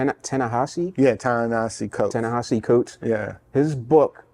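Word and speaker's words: Ta-Nehisi Coates: to mess it up it's t tanahashi yeah tanasi coat tahashi coat yeah his book you put what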